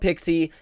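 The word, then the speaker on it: Pixsy: image service yeah yeah it's called pixie it is spelled p i x s y um pixie so um this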